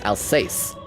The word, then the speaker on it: Alsace: I gotta practice that pronunciation. Alsace. Alsace. Not Alsace. Alsace.